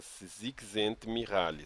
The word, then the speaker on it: Csikszentmihalyi: Quer dizer, ele se chama Csikszentmihalyi. Se escreve assim, ó.